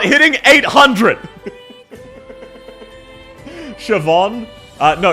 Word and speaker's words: Siobhan: So, this is actually this is actually Siobhan. This is pronounced Siobhan. Uh, so yeah, that is Siobhan. Uh, so some people just can't read.